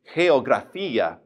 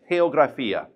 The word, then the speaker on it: geografía: Notice that the G is in front of an E, so therefore we would say it like a breathed H. So this word would be geografía.